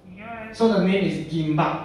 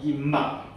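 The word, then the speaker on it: 김밥: Okay, so the name is gimbap. Okay, 它的韩国名叫 gimbap. Okay, you all wanna practice together? 一起讲，一二三。 gimbap. 杨文。gimbap.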